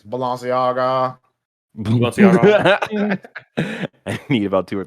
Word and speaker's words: Balenciaga: collaboration with fashion brand valenciaga you're saying it wrong it's balanciaga i need about two